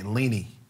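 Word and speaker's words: Leni: And her name is spelled L-E-N-I, Lenny.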